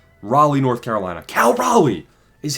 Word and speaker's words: Raleigh: Cal, you got to say North Carolina. North Carolina. Raleigh.